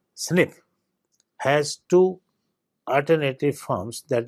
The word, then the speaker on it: SNP: polymorphism that is SNP in most cases asnp pronounced snip has two Alternative forms that is a and